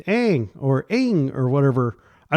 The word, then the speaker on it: Aang: with the Chinese characters, which is Aang, which is Mandarin, which the language is based off of. Sorry for the little pedantic aside. But like, people can complain in the comments that I'm not pronouncing the name right, but I'm pronouncing it the Mandarin way.